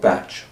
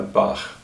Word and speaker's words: Bach: So that's possibly how it came to be that he's often called Bach. But I prefer Bach.